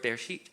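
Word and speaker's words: בראשית: the word Genesis in Hebrew it's the word be sheet because back then they used the first word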